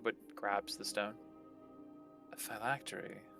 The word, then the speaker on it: phylactery: Well, we're gonna go look for a phylactery. Phil Factory. Phylactery. However Galaxy Or Galaxy's like, no, it's pronounced Phil Factory, Oh, Paria.